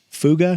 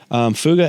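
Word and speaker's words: Fouga: CT 114, like all these weird, Fuga.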